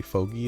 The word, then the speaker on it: fogy: old foggy or fogy I think supposedly Fogie is a pronunciation but I say foggy because fog is fog and e-y-f-e so foggy occur all right and what